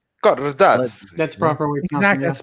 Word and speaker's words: Cardazzi: We have the legend of the Otakucomedy, Cardazzi. Actually, I pronounced it very well.